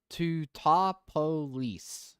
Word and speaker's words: Teutopolis: I bet that's pronounced Teutopolis. Uh I don't know. Let's look it up. Cuz there's no e after the p and o and p and I bet it's a topopolis. Two topolis. Two topolis. Yes. Topopolis. Two two ta polis. Two topolis. Yes. Two topolis. Okay. Well, we had that all backwards.